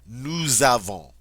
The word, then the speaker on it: nous avons: So I get to say nous avons, and this S takes on a Z sound.